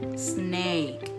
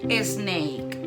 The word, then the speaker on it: snake: No. Es snake. Snake. Un pequeño truco para pronunciarlo bien es que empecéis la palabra como si estuvierais pidiendo a alguien que se callara. Snake. Y así lo vais a pronunciar perfecto.